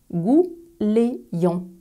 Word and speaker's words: gouleyant: Petite pause phonétique, observe comment s'écrit ce mot et écoute comment je le prononce. Gouléant.